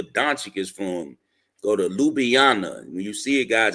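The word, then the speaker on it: Ljubljana: Go to Ljubana. When you see it, guys, it's spelled LJ U LB LJ A N A, but you pronounce it Lubana.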